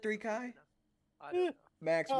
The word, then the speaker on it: 3Chi: That's the sponsorship we need, 3chi. it's pronounced 3Kai. Oh, Is it 3Kai?